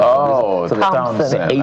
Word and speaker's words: Thompson: Oh, Thompson. So, imagine it's spelled t o m.